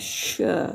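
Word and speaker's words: ش: Kemudian syin syin kalau berbaris atas sya sya sya sya.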